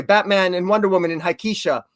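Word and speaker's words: Hiketeia: and Wonder Woman in Hikeisha, or Hikeithia, I always maybe mispronounce it. Hikatea? Hikatea, thank you.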